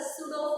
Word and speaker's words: pseudo: One more thing is that this centrifugal force is a pseudo force. It is not a real force. Okay, this is not a real force. It is called as pseudo force. Here P is silent.